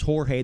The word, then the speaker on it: Jorge: think a lot but a lot of people call him George even I saw an interview where people are calling George well if you can't pronounce Jorge they can go [